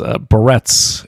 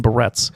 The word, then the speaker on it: Berets: Whereas Candy says, Candace says, barrettes. Yes, the green barrettes. I saw that one. Yeah, why does she mispronounce so many damn words? The Green Berets.